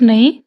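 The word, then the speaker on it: knee: Ghost, ghost नहीं, ghost, H silent है। नी, के साइलेंट है इसमें।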